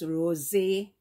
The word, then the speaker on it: Rosé: So to me, it's pronounced Rosé.